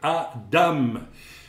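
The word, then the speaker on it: אדם: En hébreu, c'est Adam. En hébreu, ça s'écrit avec un aleph suivi d'un dalet et d'un même final. Vous avez donc le aleph qui est une lettre, n'est-ce pas, silencieuse, et vous avez le dam,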